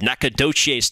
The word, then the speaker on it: Nacogdoches: minute ago where stephen f austin is located nacogdoches texas about three hours southeast of dallas that